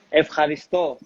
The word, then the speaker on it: Ευχαριστώ: Ευχαριστώ.